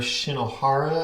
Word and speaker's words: Shinohara: This is a Walther Shinohara, I believe is how it's pronounced, brand that goes into microengineering turnout.